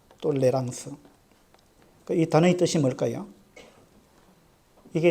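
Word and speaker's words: tolérance: 발음하면 탈룸 이렇게 되는데 프랑스식으로 발음하면 똘레랑스가 됩니다 똘레랑스 그이 단어의 뜻이 뭘까요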